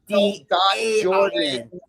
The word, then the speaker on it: Jordaine: Right, Jordan, but it's Jordan. Yes, it's IFBB I say Jordaine, but the way it's spelled.